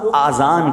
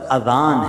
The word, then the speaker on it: اذان: نیکیاں کما سکتے ہیں۔ بعض لوگ آذان کہتے ہیں، یاد رہے پہلے اذان کہتے کس طرح ہے، اس کا تلفظ سے بچ لیں۔ آذان اذن کی جمع ہے، اذن کہتے کان کو، یہ آزان نہیں ہے، یہ لفظ اذان ہے، ٹھیک ہے؟